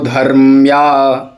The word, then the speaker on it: धर्म्या: नर ये तू धर्म्या बहुत कठिन उच्चारण है ध के बाद में र है धर और फिर म है फिर य ये तू धर्म्या [गला साफ़ करने की